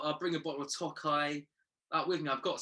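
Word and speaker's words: Tokaji: Is it Toka cask? Oh, Tokai. No, Tokai. There you go.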